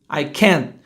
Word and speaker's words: can't: Olha a pronúncia certa. I can't. Você faz a língua do T, mas não deixa o ar passar.